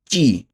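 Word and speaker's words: ci: চি। চয় রস্যিকার চি। ঠিক আছে? ইতালিয়ান বর্ণমালা উচ্চারণটা হবে চি। আমরা কখনোই সি বলবো না, চি বলবো এটাকে।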